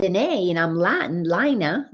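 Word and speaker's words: Laina: an astronaut had a son and his name is spelled the way my name is l-a-i-n-a lina and since um i got quite a few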